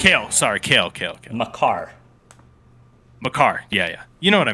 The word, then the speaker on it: Makar: Ben, you did not just say Maker. Kale. Sorry, Kale. Makar.